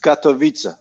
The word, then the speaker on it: Katowice: Now, I always pronounce it Katowice, but it's probably not even pronounced like that.